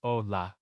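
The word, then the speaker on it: hola: The H in Spanish is always silent. Always. It's a placeholder. Ola is Olah. Habl is abl. You never pronounce it.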